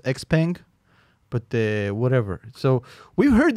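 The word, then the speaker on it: Xpeng: you have byd ramping new models neo leotto xping rapping new models so no i think it's pronounced x-pang but whatever so we've heard this mantra many times before i've been hearing it since 2015.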